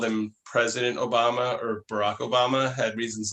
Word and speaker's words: Obama: Anybody who stresses the second syllable in Obama is a depraved son of a bitch.